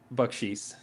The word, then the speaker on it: Bakchis: and how do you say your last name buckes okay hear crickets I'm just like just making